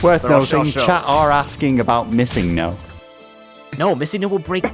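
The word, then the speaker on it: MissingNo: chat are asking about missing no no missing no will break the game I can't do missing no yeah how about missing no emphasis on the second part the third syllable if you will teacher you don't like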